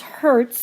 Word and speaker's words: Hertz: H lowercase Z and that's pronounced as Hertz that's a short or